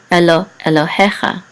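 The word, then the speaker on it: אֱלֹהֶיךָ: Elohecha. The trope is over the he, so the accent is on he.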